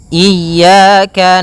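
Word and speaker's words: إِيَّاكَ: ini hati-hati dalam pelafalannya ada dua kesalahan yang sering terjadi yang pertama yaitu dia memanjangkan Iya nah seperti itu harusnya dia ee ditekan dan dilembutkan iyaka iyaka nah kemudian jangan sampai dibaca panjang jangan iaka tidak ada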